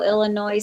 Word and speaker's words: Illinois: Well, I think I think the whole Illinois thing is because we um we are taught in at school that it's that the S is silent.